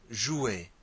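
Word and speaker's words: jouent: group of women, joue, J-O-U-E-N-T, and that E-N-T is silent. So it's pronounced the same way as je, tu, and il.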